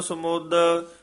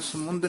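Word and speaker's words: ਸਮੁਦ: कई कोट किए रतन समुद समुद उच्चारण करना है समुंद नहीं कहना समुद कई कोट नाना प्रकार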